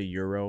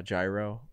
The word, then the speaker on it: gyro: like it's like like where you say euro or or uh gyro you know there's like two yeah yeah the real people say euro and like all the americans say gyro be funny if we're